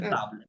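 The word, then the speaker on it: table: বি এল মাই টেবল হ্যাঁ টেবলকে ফরাসিতে বলে তাবল এ বি এল ই হ্যাঁ তাবলে একই বানান জাস্ট উচ্চারণটা তাবলে মাতাব তাহলে মাতাব হবে কারণ তাবলে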